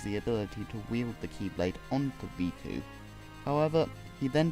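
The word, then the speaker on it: χ-blade: created the Keyblade which is represented by an X like symbol in the game but is said to be pronounced as Keyblade for some reason to make it more complicated anyway Z naught also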